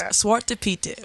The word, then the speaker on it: Zwarte Piet: I just learned how to pronounce it. It's Piet Day. It's Piet Day. It's Zwarte Piet.